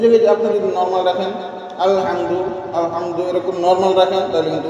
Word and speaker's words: الحمد: সেই জায়গায় আপনি যদি নর্মাল রাখেন আলহামদু এরকম নর্মাল রাখেন, তাহলে কিন্তু উচ্চারণ সুন্দর হবে না। এই যে হাম হা এবং মিম একসাথে ধরতেছেন, শক্তভাবে ধরতে হবে এবং হাটাও শক্তভাবে আদায় করতে হবে।